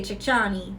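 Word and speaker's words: Chickcharney: they said about the chi the we say chi chani that's how we pronounce it Chi chani because ours don't exist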